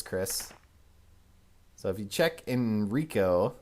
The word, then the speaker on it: Enrico: And unfortunately, Chris actually pronounces this guy's name right. Jill laughably pronounces it incorrectly in the scenario for her. Enrico!